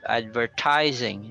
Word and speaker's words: advertising: And we have advertising. So the stress there is on the third syllable.